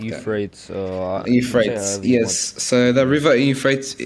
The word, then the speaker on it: Euphrates: First one is the drying up of the Euphrates River between, I'm pretty sure it's Iran, Iraq, Turkey, and another country, and Syria.